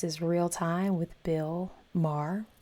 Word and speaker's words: Maher: Mar Rhymes with Jar going to Washington. This is Real Time with Bill Maher rhymes with jar.